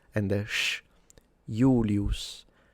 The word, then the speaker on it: Julius: In ecclesiastical pronunciation, we say Julius Caesar. And yeah, that's not how he would say it. He would pronounce it Julius with a long U and a retracted S at the end.